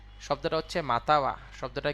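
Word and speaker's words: または: একটুখানি কষ্টে পড়ে যাবে তাই না শব্দটা হচ্ছে মাতাওয়া শব্দটা কি এই যে মাঝখানে যে কান যেটা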